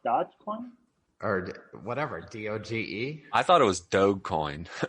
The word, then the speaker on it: Doge: Or whatever, DOGE? I thought it was Dogecoin. I thought it was Doggy Coin.